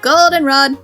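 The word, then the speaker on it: Goldenrod: arrived at Golden Rod Golden Rod the accent is on the o all right then all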